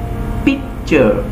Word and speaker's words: picture: এটা টুরে উচ্চারণ হবে না কিন্তু, চার।